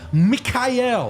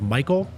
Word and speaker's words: Michael: Rock, Mikhail. It's actually pronounced Michael.